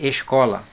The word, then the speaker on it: escola: Vou colocar aqui escola. Vou separar a palavra escola. Escola. Vejam aqui que a sílaba tônica não é a última. Ela é a penúltima.